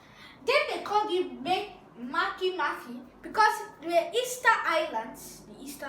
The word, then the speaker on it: Makemake: name is no code Mick Mick is called Makemake that's the correct pronunciation before my most fun Easter Bunny no